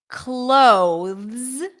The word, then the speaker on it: clothes: let me know so in the words clothes cloth clothes I'm going to put on my clothes there is a th and then a z sound however because this transition is exceptionally challenging even for native speakers what happens is that people tend to drop the th here and just eliminate it and pronounce it as close close did